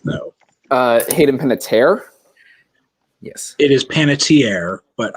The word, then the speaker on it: Hayden Panettiere: See if Jack can actually pronounce it right, though. Hayden Panettiere.